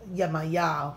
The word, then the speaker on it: Yemaya: this in this spread they call the cards Yemaya is normally how we pronounce it but she has various names so